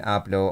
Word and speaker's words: hablo: Do not pronounce the H in hablo or hola. Oh, I knew that, to be fair.